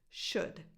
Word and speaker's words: should: could and should again just like shook but instead of a k at the end we have a D should would could should no l sound now let's move on